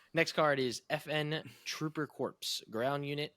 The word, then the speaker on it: Corps: Corps. Yeah, the P is silent.